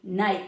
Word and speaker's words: knight: This kind of night with a K is like your night in shining armor. Right. The the knight, the one who wears the armor and fights for good, right?